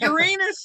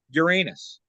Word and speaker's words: Uranus: you're hairy starfish no Uranus you know they they tried putting the emphasis on the first syllable you know and no that didn't catch on no way look if